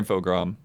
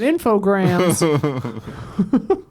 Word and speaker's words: Infogrames: Pretty sure Infogram. What the hell? There's an S. Yeah, but it's French. Oh. Infogram. I've always said infograms.